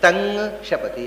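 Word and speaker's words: तं शपति: ಅಥವಾ ಋಗ್ವೇದದಲ್ಲಿ ಹೀಗೆ ಉಚ್ಚಾರ ಯಜುರ್ವೇದದಲ್ಲಿ ಅದು ಕ ವರ್ಗದ ಕೊನೆಯ ಅಕ್ಷರದ ಹಾಗೆ ಆಗುತ್ತೆ ಹಾಗಾದರೆ ತಂ ಶಪತಿ ಅಂದ್ರೆ ತಂಗ್ ಶಪತಿ ಆಗುತ್ತೆ ತಂ ಸೃಜತಿ ತಂಗ್ ಸೃಜತಿ ಆಗುತ್ತೆ ಇದು ಬಿಟ್ಟು ಗುಮ್ಮ ಆಗುವುದು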